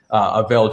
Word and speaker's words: Avél: Yes, my name is Avél.